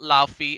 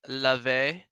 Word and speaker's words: Laufey: I think it's Love. I think that's how it's called. I think that's how she pronounces it. It's not Laufey, it's Lave.